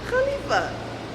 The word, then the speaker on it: Khalifa: KH is pronounced Kha. So DJ Khalid, the Burj Khalifa.